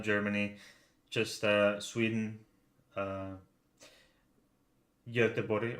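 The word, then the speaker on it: Göteborg: just uh sweden uh yote body or as is the english spell it gothenburg we're staying staying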